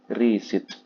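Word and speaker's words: receipt: pasti re ada pe kuitansi artinya membaca yang benar adalah hilangkan penya I biasa saja ayo baca r i s i t Bacanya apa resit ya Yaudah baca resit selesai bukan pakai gitu kan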